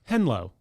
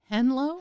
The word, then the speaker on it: henlo: i think it's going to be fun okay henlo henlo hello spell it h-e-n-l-o henlo yeah yeah and this is